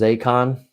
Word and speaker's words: Zacon: Maybe it was Zacon. Rhymes with bacon.